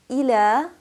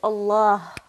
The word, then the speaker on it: Allah: we have the word Allah Allah the lamb in Allah can be pronounced either heavily or lightly now how do we